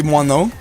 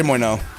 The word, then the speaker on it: moineau: So the, like, kind of correct way to pronounce it would be moineau. Okay. I like that. The like, It means sparrow. The like, I'm English pronunciation, you could just say moineau.